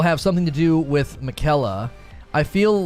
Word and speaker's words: Miquella: It's Miquella.